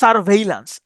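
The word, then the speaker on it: surveillance: ওকে এরপরে আসেন এটার উচ্চারণটা হচ্ছে স্যার ভেইলান্স।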